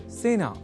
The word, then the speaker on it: सेना: अतः सेना इस शब्द के उच्चारण में ए इस स्वर वर्ण या अक्षर का ही प्रयोग किया जाना चाहिए ना कि ऐ का।